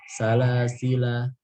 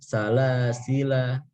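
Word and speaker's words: سلاسلا: Salasila ketika waqaf maka dia ada ikhtilaf cara bacanya. Ada yang baca pakai qasr, ada yang mad dengan alifnya ditiadakan. Inna a'tadna lil kafirina salasil. Waqaf, ada yang salasila gitu. Itu kalau mad dia.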